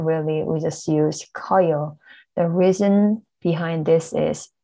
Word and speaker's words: 커요: 크다 plus 어요 will become 커요, not 커요.